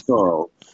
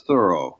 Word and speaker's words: Thoreau: it right you know it's it's thought or it's Thoreau you know depending on how you want to enunciate that but they're all